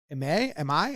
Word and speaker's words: Imai: is the pitcher, Tatsuya Imai. How do you say his last name? Imai, I believe, is how I've heard the last name pronounced most often.